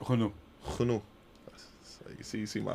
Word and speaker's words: Renault: I think it's, how do you say it in French? Renault.